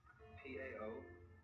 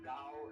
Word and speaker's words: Tao: So their principle of nature is called a Tao, T-A-O, pronounced Dao in the Mandarin dialect, Tao in the Shanghai dialect, To in the Cantonese dialect. Take your choice.